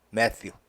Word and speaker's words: Matthew: 자, 영어 발음은 이게 햇바닥 살짝 깨면은 이 발음. 그러니까 매튜, 마태를 부르심.